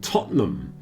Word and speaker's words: Tottenham: We had a lot of Manchester United fans and Tottenham Hotspur fans, pronounced Tottenham, which was certainly very interesting from an anthropological point of view.